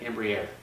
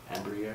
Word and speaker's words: Embraer: Embraer. Embraer.